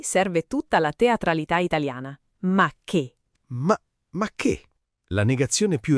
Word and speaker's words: ma che: Ma che vacanze, ma che dieta, ma che tranquillità. Quello che segue ma che viene spazzato via. E sentite il suono. Ma che? L'accento è tutto sulla fine, secco.